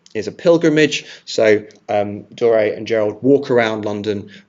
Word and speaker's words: Doré: So, uh, Dor, I think it's pronounced Dor, excuse me, Doré and and Gerald.